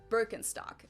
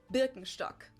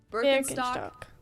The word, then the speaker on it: Birkenstock: the world nowadays, and it's natural that people pronounce it with their native accent. So English speakers usually say Birkenstock. In German, we say Birkenstock. Birkenstock.